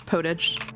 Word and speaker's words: potage: Yes, it's right in French, but it gets pronounced that way in English too.